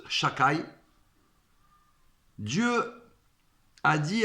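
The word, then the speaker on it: שדי: lettres shind Dalet youud qu'on ne peut pas prononcer en ement mais qu'on prononce Chaka Dieu a dit à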